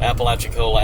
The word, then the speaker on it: Apalachicola: Apple Coca-Cola. It does kind of sound that. Apple Coca-Cola. Apalachicola, Apple Coca-Cola. Can't say that 3 times What's fast. interesting is it only has one P. People think it's spelled like Appalachians, but it's not.